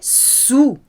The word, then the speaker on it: saoul: Il était très saoul. Normally you pronounce L at the end of French words, but not here.